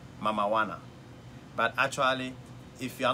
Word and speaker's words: Mamajuana: is very interesting called mamajuana but actually if you are not careful the way it's been pronounced is mama wanna not like Maradona so it's it kind